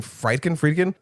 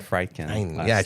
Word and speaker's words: Friedkin: And I'm like, dude, you can pronounce that, but you can't pronounce William Friedkin? You said Friedkin.